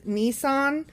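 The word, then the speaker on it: Nisan: So, the first month is Nissan. N I S. I'm assuming that's how it's pronounced. Like the car.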